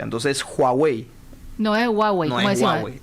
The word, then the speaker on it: Huawei: Bueno, es cierto, pero tenemos a Huawei. En chino se pronuncia la H, se pronuncia. Entonces, Huawei, no es Huawei, como deci, es Huawei.